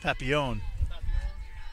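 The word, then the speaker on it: Papillion: They do the same thing with Pilion, Nebraska. That is definitely not how to pronounce that. Papion.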